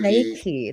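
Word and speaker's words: Reiki: Raiki, let's say it like Raiki.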